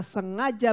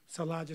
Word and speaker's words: sengaja: for if we sin willfully, Sebab jika kita sengaja berbuat dosa, how do you say willfully? sengaja, Salaja, say salaja. Saya sengaja, Sengaja. saya willfully, Sangaja, say sangaja. sengaja. Sangaja. Saudara, Beloved, now I'm going to get up in your business.